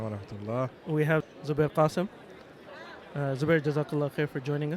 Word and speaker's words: Qasim: Zubair Qasim, but that's okay.